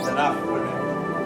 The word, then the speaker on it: Ctenophora: And yet, the Ctenophora begins with the letter C, even though we don't pronounce the C. Ctenophores. Oh, Ctenophora.